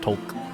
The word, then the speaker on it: Talk: name tag that says tulk hulk yeah it's spelled talk but it's pronounced tulk um talk can you